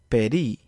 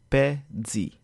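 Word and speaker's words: pèdi: pronounce it as D it is more appropriate to pronounce it as Z for best practice doing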